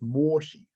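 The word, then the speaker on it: Mōshi: It's a Japanese edition of the Mengzi, which I believe in Japanese is pronounced moshi.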